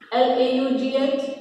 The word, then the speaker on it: laugh: Now I'm reading LAUGH, laugh, ROUGH, rough, COUGH, cuff, TOUGH, tough, ENOUGH, enough. देखिए यहाँ ये silent है, जो GH है हमारा, यहाँ हमें